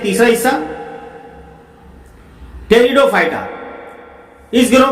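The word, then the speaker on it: Pteridophyta: लेकिन अब ये तीसरा जो हिस्सा है यहाँ पे जैली आलम का, टेरिडोफाइटा, ये पी यहाँ पे साइलेंट है, इसको टेरिडोफाइटा कहते हैं, पटाइरिडोफाइटा नहीं बोलते, टेरिडोफाइटा कहते हैं इसको।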